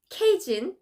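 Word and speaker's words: Kyejin: My real name, my legal name, my official public name is K-Y-E-J-I-N, K-Jin, and. But then when people say K-Y-E, they don't know how to pronounce it. Pronounce it. Yeah, they're like, how can I read your name? So I just removed Y-E. Anyway, the pronunciation should be the same.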